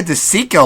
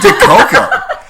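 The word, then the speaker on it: DiCicco: very bad remit huh i mispronounced jessica de Cicco last week I sent de koker I looked at her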